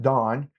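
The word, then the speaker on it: DAHN: D I I pronounce it Dawn. It's not spelled like it's pronounced, but it's D A HN is an AI based hospice specific app to help you with your documentation.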